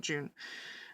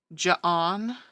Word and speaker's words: Joon: June to my vet, her name is spelled Joon. The reception staff at my vet could not get her name right. Joon. They could not sound out June. Most of the time they called her Ja'on or Jen.